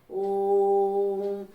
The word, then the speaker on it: ॐ: fruits और कहलाते हैं जैसे अगर हम ॐ का उच्चारण करते हैं ओम तो ठीक है इस सचिन होता है अंग्रेजी के इस तरह तो यह हमारा जो ओम जो लंबा खिंच रहा है यह हमारा होता है प्लोस वन ठीक है बच्चों